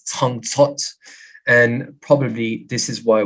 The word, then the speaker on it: Jingjue: So Tingtue could be pronounced as Tang Zot, and probably this is